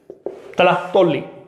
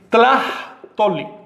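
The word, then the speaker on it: tlahtolli: En el centro yo a la al discurso, a la palabra le llamaría Tlatorli. Tastolly en Veracruz. ¿Cómo le pronunciaría? Tastolly.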